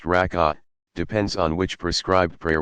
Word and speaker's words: rak'ah: The number of cycles, rak'ah, pronounced rak'ah, depends on which prescribed prayer one is performing.